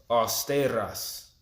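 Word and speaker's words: αὐστηρός: and 21 all right this word austere in the Greek is pronounced or stay at us alright strongly austere to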